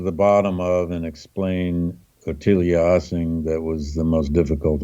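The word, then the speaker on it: Ottilie Assing: her name because I'm not sure how to pronounce it. It's Ottilia Ossing.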